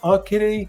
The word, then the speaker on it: Okatie: low country here and depending on where you're from you're going to pronounce this differently but some people say a kitty other people say okay so you're probably